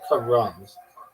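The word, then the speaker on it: carrom: Karam, the board game is usually pronounced Karam. Not even like Ram. It's kang. Sounds like car. Emphasis on the first syllable.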